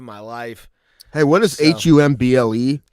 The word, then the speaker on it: Humble: Humble. Yeah, I can understand. Yeah, I can see how that's if you pronounce it humble, you're not from Texas, fam. You don't know about it. It's pronounced humble.